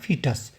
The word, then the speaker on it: foetus: अ जागोट एंड अ फिटस देखिए सबसे पहले यह बोला आपको सिखाना चाहूंगा य देखिए इसकी स्पेलिंग होती है एफ ओ टी ई टी यू एस लेकिन इसको बोलते हैं फिटस जागोट पहले मोटा समझ